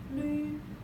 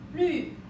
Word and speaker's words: 律: Okay, 律 how to pronounce this? 了 ü 律四声律 fourth tone 律 when you're typing it in your on your keyboard, you can tap LV because there's no U sound on our keyboard.